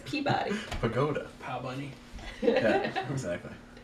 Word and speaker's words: Peabody: yes Peabody I know you look at it it looks you think it should be padodi or something but it's Peabody Pagoda pow bunny yeah